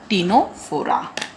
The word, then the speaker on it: Ctenophora: Today in this lecture we'll discuss about our next phylum, that is Ctenophora. Here that C is silent, so Ctenophora.